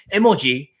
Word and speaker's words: emoji: So emoji, which is how you pronounce in Japanese, was invented in the